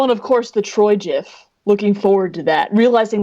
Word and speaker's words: GIF: I say GIF mostly just because I think it sounds nicer. I like the soft G. Uh, and people are like, uh, that's not how the G would sound in that scenario. I'm like, you ever heard of a giraffe? You ever heard Geronimo?